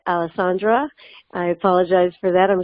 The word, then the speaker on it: Alessandra: So with that, I'd like to say that I mispronounced Senator Biaggi, your first name. It's Alessandra.